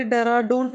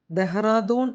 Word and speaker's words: ദഹറാദൂൺ: പേപ്പറിൽ ഒക്കെ വായിക്കുമ്പോൾ അവര ഡറാഡൂൺ എന്നാണ് എഴുതുന്നത് നമ്മളും അങ്ങനെ തന്നെ പറഞ്ഞു ശീലിച്ചു പക്ഷേ ഇത് പറയേണ്ടത് ദഹറാദൂൺ എന്നാണ് ദയ എന്ന വാക്കിലെ ദ ഉണ്ടല്ലോ അത് വെച്ചിട്ട് ദഹറാദൂൻ എന്നാണ് ഇതിൻറെ ശരിയായ ഉച്ചാരണം നിന്നും തിരിച്ചു പോകുന്നത് വരെ